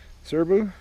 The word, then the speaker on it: Serbu: is a serbu that's how you say it serbu um let's go ahead and make sure it's